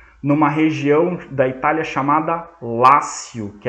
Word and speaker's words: Lácio: se chama Lácio Lácio em italiano eh em italiano não em latim a gente fala Lácio escreve c com c l a c i o Lácio em latim pronuncia-se Lácio mas se escreve com T escreve latio é daí que vem